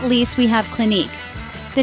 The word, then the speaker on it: Clinique: hang of it finally we end the name with a silent E so when you put it all together it sounds like Clinique now let's take a